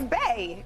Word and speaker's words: BAE: it's Bay. It's like Bay.